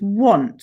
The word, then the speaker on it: want: Okay, it's tricky because if phonetically you did it, you'd go nt, wouldn't you? And it's not an o.